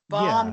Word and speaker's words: bomb: Bomb came from Italian bomba. Yeah.